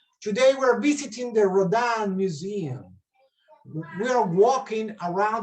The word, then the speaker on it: Rodin: Se escribe Rodin, se pronuncia Rodin.